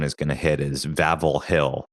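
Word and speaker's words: Wawel: The other, you know, major tourist attraction that pretty much everyone is going to hit is Vavl Hill, which is pronounced with V's, but it's spelled D A W.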